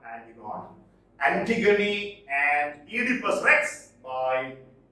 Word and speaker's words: Antigone: Antigone, not Antigone.